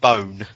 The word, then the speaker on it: Boon: spelt on the bottle it's actually pronounced bone as in b-e-a-u-n-e yes yeah all it's all the other words that i looked up how to pronounce it's not boons yeah the one everything